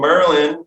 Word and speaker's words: MRLN: Dan plays in a sick ass band called Merlin. but no fucking no, not syllables, fucking it's spelled MRLN.